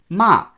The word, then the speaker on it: 骂: Now, the fourth tone, 骂 ma, means to curse or scold.